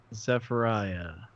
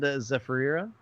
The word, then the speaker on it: Zephyriah: Because I would have said Zephyra.